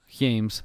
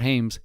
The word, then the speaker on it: James: fou quarter okay so LeBron James James not Hames games so we gotta